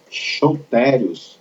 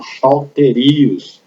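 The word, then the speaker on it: σωτήριος: Esse termo grego aí, essa pronúncia é chotérios, é isso mesmo, você fala como se tivesse um H, chotérios ou choterios, tá?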